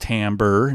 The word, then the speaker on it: timbre: was so timbre um timbre's pronounced timber not timber or timbery or tambry or whatever it's timbre and timbre is basically